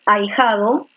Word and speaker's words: ahijado: por uno tú dices ahijado tú dices ahijado ahijado o ahijado tú dices alejado uno entonces la fuerza de voz está aquí en el medio en la grave este es una grave